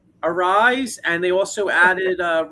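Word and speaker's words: Arraez: Uh the uh Phillies added Luis Ar how do you say his name? Arise. I always mess Arza. Arise.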